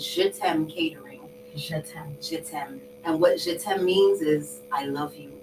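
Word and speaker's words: Jet'aime: catering company is shit's ham catering and what shitem means is I love you in French love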